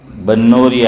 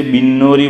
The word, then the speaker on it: بنوری: ہے، حضرت مولانا یوسف بنوری علیہ الرحمہ۔ لوگ اسے بنوری بولتے ہیں، با کے نیچے زیر، لیکن کہتے ہیں کہ صحیح تلفظ، صحیح اچار، پرناؤنس اس کا یہ با پر زبر ہے کہ بنوری۔ وہاں ایک استاد تھے،